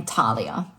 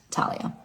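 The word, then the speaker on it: Thalia: Talia. The H is silent. Talia.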